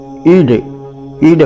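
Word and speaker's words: ईळ: ईड होता है, और ये डा एक है, ला और डा के बीच का उच्चारण होता है अग्नि, ओमग्निमीळे पुरोहितम। तो ये इस समय तो हिंदी के वर्णमाला में नहीं है, देवनागरी के वर्णमाला में, लेकिन यह डा और ला के बीच का उच्चारण होता है ईड, इस तरह से बोला जाएगा।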